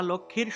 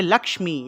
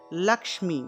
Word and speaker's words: লক্ষ্মী: মহালক্মী আমরা তো মহালক্ষ্মী বলে ফেলি এটা লক্ষ্মী হবে না হবে লক্মী এখানে দেখুন এর নিচে একটা ম আছে তাহলে উচ্চারণটা হবে লক্মী লমী ঠিক আছে এখানে দেখুন আমি লিখে দিয়েছি ও মহা লক্মী নমহ নমহ নমহ নমহ